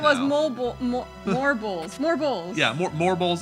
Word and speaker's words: Morbol: Yeah, Morbols is like the true pronunciation.